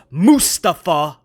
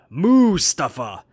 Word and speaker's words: Mustafa: So basically, if you were to spell it like a cow, M-O-O, Mustafa.